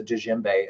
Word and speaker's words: djembe: anybody wants to know that's how you pronounce that it's a Jinbei I do have a